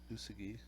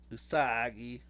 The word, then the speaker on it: Usagi: and then we have USI although that's not how you say it usagi that's yeah don't give